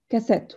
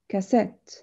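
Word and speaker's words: cassette: ريكوردر لكن الشريط اسمه كاسات وناخد بالنا من النطق اسمها كاسات مش كاس تمام يبقى الستس بتاعنا على المقطع التاني كاسات تمام الكاسات ممكن ان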